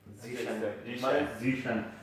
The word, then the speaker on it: Zeshan: Zeshan.